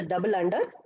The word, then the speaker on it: dunder: Now let us see something known as a dunder or magic methods. So either we can pronounce this as a dunder or otherwise a double under.